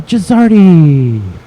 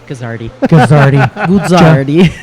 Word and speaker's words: Guzzardi: today's first guest, Gizzardi. Yeah. Did I mutilate your last name? Guzzardi. All right. Guzzardi. What's the proper pronunciation? Since we're here in the United States, it's Guzzardi.